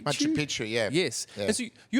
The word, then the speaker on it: Machu Picchu: I might butcher the pronunciation. Is it Machu Picchu? Machu Picchu, yeah.